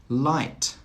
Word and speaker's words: light: Light, light. Height, height. Through, through. Thorough, thorough. In all of these words, the GH is silent.